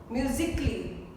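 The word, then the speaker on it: musically: म्यूजिकली A इज not pronounced.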